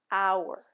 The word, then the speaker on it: hour: We do not pronounce the h in hour. It's pronounced hour.